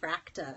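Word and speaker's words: FRAKTA: this is called a fractal I don't speak Swedish but I think that's the right boom pronunciation FR akta and that is I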